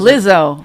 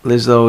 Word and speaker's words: Lizzo: What is Lizzo. it? Lizzo. Why are you adding extra syllables?